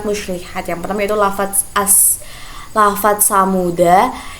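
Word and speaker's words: ثمودا: Yang pertama itu lafaz samuda, itu jika wasal huruf dal dibaca pendek dan waqaf dal dibaca sukun.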